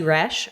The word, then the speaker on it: Roesch: You can find me at Rash rhymes with fresh on Instagram. Nope, that's not my tag. That's not it. Yep. You can find me at Rush on Instagram where I